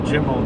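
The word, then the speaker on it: גימל: A dalid and a zalid, a gimel and a gimel, or a jimel, depends on which part of Yemen you came from.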